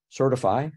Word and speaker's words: Sirtfi: of the Baseline expectations certify or certify as it usually gets pronounced which is a framework